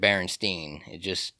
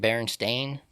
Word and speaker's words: Berenstain: Bears, which, I mean, even if it's spelled with the A, You're going to pronounce it you the could same pronounce it Berenstein. I guess it just sounds more logical than Berenstain. It's because people are lazy with their speech, and they're not going to say Berenstain. They're going to say Berenstein, use less muscles.